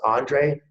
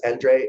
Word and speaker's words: Andre: And I couldn't be more happy to introduce Andre, and it's pronounced Andre if you're in the US, Andre if you're in Europe. So either way it works.